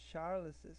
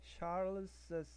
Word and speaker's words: Charles's: So we say Charles's, we read it Charles's, we read the double s.